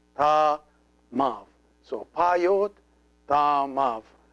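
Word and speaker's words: ⲧⲁⲙⲁⲩ: See this letter, which is the epsilon, is here pronounced like a V because it is preceded by an alpha. So if it is preceded by an alpha, it is pronounced like a V. So this one becomes ta mav.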